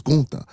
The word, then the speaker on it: Gunther: It's not Gunther. Y'all steady pronouncing the man name wrong. It's Gunther.